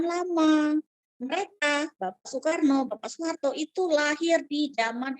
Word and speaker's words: Soekarno: gunakan ejaan lama ya suekarno tulisannya ya Tapi bacanya Soekarno tulisannya Solitaire no lalu